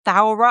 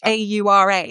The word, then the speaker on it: Thaura: Thaura. Is it Thora? Is that how you pronounce it, I Misan? mean, yeah, and I don't know whether